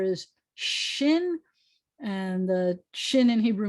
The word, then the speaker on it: shin: i want you to make air come shushing out of your mouth like this that's the sound that you're going to make from air coming out of your uh your teeth because the name of